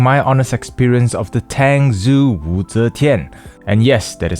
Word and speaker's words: Tangzu Wu Zetian: Hello and thank you for clicking on this video where I'll be sharing my honest experience of the Tangzu Wu Zetian. And yes, that is how it's pronounced.